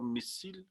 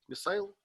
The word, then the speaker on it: missile: Missile or missile? Missile? The British call it missile.